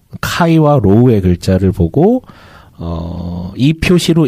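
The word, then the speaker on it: Χ: 아마 대부분 분들이 지금 뭐 이렇게 검색을 하셔도 되고 라마 라바룸이라는 거 그리스 문자 헬라어로는 이제 카이와 로우라고 발음하는데 우리가 이제 크리스마스를 엑스마스라고 하잖아요.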